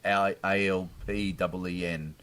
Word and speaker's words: Alpine: So, well, apparently the Alpine supercar is pronounced that way. It's like ALPEEN, as if it was.